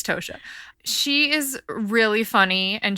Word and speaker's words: Tosha: San Francisco Examiner and Tasha Tasha Tasha I think it's Toshiya I think people say it wrong and so I get it confused it's tosia she is really funny